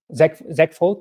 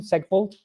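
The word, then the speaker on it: segfault: because there was some ZEG fault, that's the proper pronunciation, ZEG fault, segmentation fault, when trying to access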